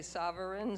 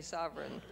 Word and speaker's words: sovereign: So is sovereign 2 syllables or 3 syllables? Some say sovereign, some say sovereign.